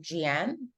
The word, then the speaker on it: Jian: And sorry, am I pronouncing your name right? Is it Jian? Yeah, you know, a lot of people don't say it like that, but yes, that is how you say it.